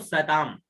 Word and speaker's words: सताम: फिर सताम, सता और ऊपर बिंदी तो सताम।